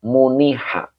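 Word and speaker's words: مُنِحَ: Ini dibacanya majhul ya, muniha.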